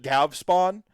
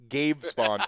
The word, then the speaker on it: Gavespawn: We pronounce it Gavspawn just because it sounds way too close to Gravespawn, and it is not Gravespawn, it is Gavespawn or Gavspawn.